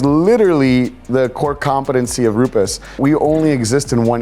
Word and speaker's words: Rupes: So the correct pronunciation of Rupus is actually Rupus. We're supposed to roll the R because it's an Italian name.